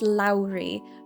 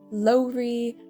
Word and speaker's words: Lowry: her name Lowry Lowry her name is Lowry not Lori not Laurie her name is Lowry